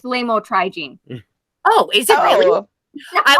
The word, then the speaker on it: lamotrigine: And we got a nurse over here that she knows how to pronounce those things. It's lamotrigine.